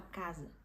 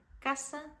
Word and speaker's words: casa: ir na sua casa você vai ter que falar ca e não casa é muito comum ouvir brasileiros em vez de falar falar casa isso vem porque Claro o nosso idioma tem essas essas regras que não tem no espanhol então acaba que a gente confunde muita gente pode acabar confundindo mas super importante vocês falarem caça em vez de falar casa isso serve para todas